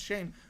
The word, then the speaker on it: Schoen: So I've associated with Schoen Must Go, but no, it's Shane. All right. My bad on that. Kickoff end zone touchback. I did not even realize I was saying it wrong this entire time. It's pronounced Shane.